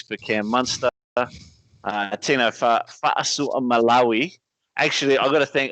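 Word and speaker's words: Fa'asuamalaui: So it's Fa'asu Malawi. Fucked it. Fa'asu Malawi.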